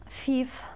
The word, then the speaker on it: thief: English okay neither don't thief thief very good tricky word to pronounce tricky word to pronounce because we have a th thief thief okay I